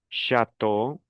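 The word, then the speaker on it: château: Por ejemplo, la C hs con la A se pronunciaría sha. Luego viene una T. E a u. ¿Cómo dijimos que se pronuncia e a u? O. Una o.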